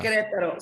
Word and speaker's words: Querétaro: Querétaro.